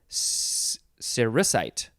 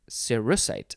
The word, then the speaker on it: cerussite: Okay, next we have cerussite. Cerussite. I want to say cerussite, but it's saying the emphasis is on the r.